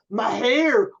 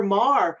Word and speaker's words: Meagher: So people might say Meagher or Mar or Meagher or Meagher but there's no like gestures that go with it. But just remember the first one you said, and then that will be fine.